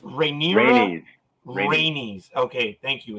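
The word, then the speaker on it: Rhaenys: does as well I don't know how to pronounce her name it's Rainier rainey's okay thank you it's similar rainey's showed us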